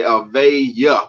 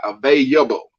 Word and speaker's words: available: She would always say avaya with a Y, available.